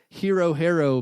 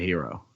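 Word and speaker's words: Herro: Sorry, Chuck, there are no Tyler Hero bets on the board. I don't even know how to say his name. I don't know how to say his name. It's Hero, I think. It's 2 R's. Hero.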